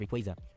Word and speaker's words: Rayquaza: The three starters, freaking Beedrill, Pidgeot, Slowbro, Steelix, all the way down to freaking Mega Rayquaza. It's pronounced Rayquaza.